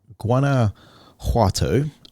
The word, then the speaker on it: Guanajuato: up here is uh guana juato if i'm pronouncing the j right in spanish guanajuato in mexico let's